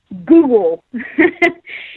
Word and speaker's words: Guggul: to lower cholesterol, and that's called Google. It's spelled Guggul. So anybody else out there who wants to go the natural route to lower their cholesterol, look up Google. So Guggul.